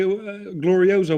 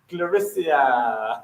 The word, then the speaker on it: Gloriosa: Glorisia. Oh my goodness, that was possibly, I've never laughed so much. She called Gloriosa Glorisia.